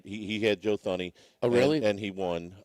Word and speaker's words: Thuney: He had Joe Thuney. Oh, really? And he won. Thuney? Thuney. Is that how you say it? Thuney. Okay, Thuney. Tooney. Okay. Tooney.